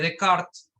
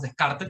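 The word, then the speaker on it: Descartes: pues se llama rené de karts rain de cartes se pronuncia de kart pero decimos descarte porque porque son si hablamos español rené de cart y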